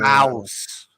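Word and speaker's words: Maus: Um oh mouse. It's called mouse but it's spelled m a u s.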